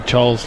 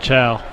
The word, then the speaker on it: Chol: game for getting Big Chol's last name wrong a few times last. I said Chow, not Chol.